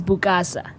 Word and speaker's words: Bukasa: is a rising so the original is is silent yeah oh so it's just mukasa yeah it's our original gives it the authenticness of itself yeah so so your name is bukasa yeah yeah what what's